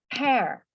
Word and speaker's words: pear: Y esto es importante que no se pronuncia pear, porque no es pear, es pear. Okay. Pear. So, no sabría cómo escribirlo, pero es pera. Pero no se dice pier. La razón es que pier es donde aparcas los barcos, ¿no? Es como el puerto. Por eso no se dice pier, es pear.